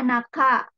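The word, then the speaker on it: 中: namanya Di tengah ini Tengah dibacanya Naka ya ini kita baca untuk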